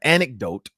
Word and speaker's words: anecdote: I saw antidote antidote I hate that word antidote is how you say antidote there's a random an there a c in there yeah there's a c in there anecdote um we'll talk about